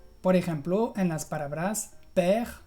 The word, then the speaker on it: père: Lo vas a encontrar mucho en palabras que tienen una consonante final pronunciada y una E al final. Por ejemplo, en las palabras père o mère, que hemos visto al principio.